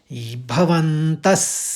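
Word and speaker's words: भवन्तः: अब इतना आपके समझ में आ गया है कि जैसा विसर्ग होगा पहले शब्द का उसी तरह से उसका उच्चारण होगा विसर्ग में। तो चौथे चरण को हम इस तरह से पढ़ेंगे। भवंतस सर्व एवह हल्के से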